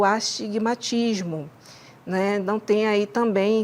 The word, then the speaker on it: astigmatismo: A gente fala muito astigmatisma, mas a pronúncia correta é o astigmatismo.